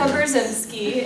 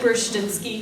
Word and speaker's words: Brzezinski: My name is Brzezinski, and I know you pronounce it Brzezinski here, but I'm 17 years